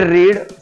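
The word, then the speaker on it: read: रीड दुसरं रूप आहे रेड स्पेलिंग तीच आहे रीड हा असा वर्ब आहे ज्याचा first form second form third form same spelling फक्त उच्चार वेगळा आहे pronunciation different रीड रेड रेड रीडिंग ही चार रूप आहेत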